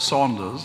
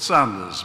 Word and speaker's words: Sanders: I'm not called Saunders. I'm called Sanders.